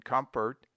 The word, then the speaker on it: comfort: O is pronounced like U in tub, in comfort, company, among, mongrel, tongue, etc.